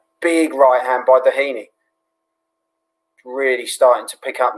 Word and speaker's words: Doheny: It's pronounced Doheny.